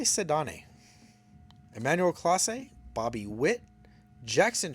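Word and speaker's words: Ceddanne: Jace Young, Ellie, Sedane Raphael, and I'm pretty sure I'm saying his name wrong. I've heard it called Sedan, but I say Sedane.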